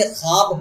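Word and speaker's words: خواب: आज के सेशन में जो पहला सवाल है वो वाव जो लफ्ज में लिखे होने के बावजूद भी पढ़ी नहीं जाती है क्या कहलाती है? उस वाव को वाव मादूला कहते हैं। मादूला का मतलब होता है साइलेंट, यानी लिखा जाए पढ़ा ना जाए। जैसे ख्वाब हो गया, खार हो गया, ये सब में वाव लिखा तो जाता है लेकिन पढ़ा नहीं जाता, इसलिए वाव मादूला है।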